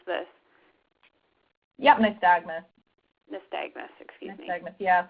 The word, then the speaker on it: nystagmus: Any treatments for, and I'm not sure how you pronounce this. Yep, nystagmus.